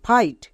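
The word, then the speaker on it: fight: আই জি এইচ টি ফাইট এল আই জি এইচ টি লাইট এখানে দেখো প্রত্যেকটিতে আই এর পরে জি এইচ আছে তার মানে জি H silent G এইচ এর উচ্চারণ করতে হবে না যেমন নাইট ফাইট লাইট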